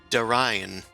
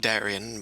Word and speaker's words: Darian: boo crash oh um my name is da ryan some some call it darian but i pronounce it differently it's a family name uh wonderful uh what